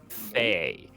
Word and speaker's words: Thay: I thought they were Fae red wizards. Thay. Red Wizards of Almost got- Thay. Almost got taken down in a TPK due to a mispronunciation by my DM.